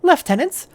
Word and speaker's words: lieutenant: The second commander and hildless lieutenants will uh sorry it's British pronunciation. So left tenants shall see to the security of the city in my absence.